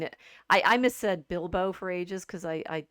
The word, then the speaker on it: Bilbo: I missaid Bilbo for ages because I said it out loud to myself as Biblo or something. I don't know what I was oh thinking. And so getting the Hobbit's name right, it's Bilbo.